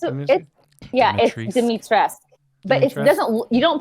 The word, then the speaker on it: Dimitrescu: So you would think that you pronounce the U, but you don't.